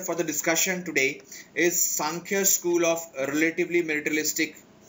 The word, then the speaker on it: Sankhya: Sankhya. It is the correct pronunciation. Sanskrit pronunciation is Sankhya. In English, generally we say Sankhya. It's not Sankhya.